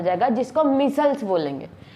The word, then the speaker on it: micelles: देखिए और ऐसे एक स्ट्रक्चर का फॉर्मेशन हो जाएगा, ऐसे ही फॉर्मेशन हो के एक स्ट्रक्चर का फॉर्मेशन हो जाएगा जिसको मिसल्स बोलेंगे।